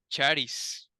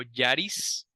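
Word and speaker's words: χάρις: palabra la palabra griega para gracia es charis sí charis o Yaris también se puede pronunciar y era una palabra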